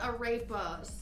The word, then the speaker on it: arepa: Arepa. It's Arepa. You know I'm good at pronouncing.